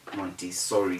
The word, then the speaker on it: Montessori: pronounce montessori as montessori the s should be s monty sorry instead of montezori and people say embazzy